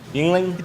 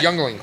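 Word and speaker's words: Yuengling: See, I can never pronounce that. Yingling. I always want to say Youngling.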